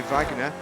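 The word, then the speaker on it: Wagner: Valkrie is a song by Vagner, but the spelling of Vagner is not in the German way, because a W is pronounced like a V. So in English, they've changed it the W to a V. So it sounds like it sounds in German if you're pronouncing it in English.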